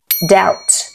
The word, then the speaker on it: doubt: who who who who doubt doubt debt debt letter M and letter N